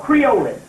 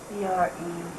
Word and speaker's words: creolin: It's called creolin. Let me spell that. You got to get this stuff called creolin. How you spell creolin, you know? C-R-E-O-L-I-N.